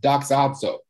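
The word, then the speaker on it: δοξάζω: And the word in the Greek is pronounced doxazo.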